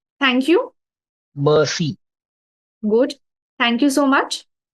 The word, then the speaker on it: merci: So you don't say it Uh, as mercy, not in the English Merci.